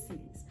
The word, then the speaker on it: cedis: You know, every time I look it up, there's a different pronunciation, but I believe it's cedis.